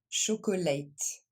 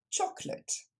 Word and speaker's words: chocolate: on ne dit pas chocolate il n'y a que deux syllabes ici et ça se prononce choclot on le décompose Cho clot encore une fois Cho clot et plus rapidement chocolate encore une fois chocolate